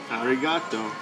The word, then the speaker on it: Arigato: What rhymes with roboto? Arigato. Arigato roboto. Never another guzogi?